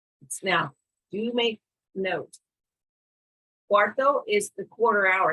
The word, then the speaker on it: cuarto: what about the quarter hour quarter hour is pronounced now do you make note cuarto is the quarter hour it's not four four